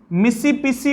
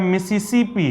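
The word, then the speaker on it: Mississippi: और दूसरा यहां पर मैंने इसे मिसिपिसी पढ़ दिया है, मिसिपिसी, लेकिन अगर आप गौर से देखिएगा तो यह मिसिसिपी है, पिस्सी ने होके सिप्पी है।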